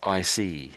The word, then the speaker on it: icy: it's more it's So it's like ice. It's basically comes from ice, but it comes from ice, but it's got the Y ending on it. So, it's icy.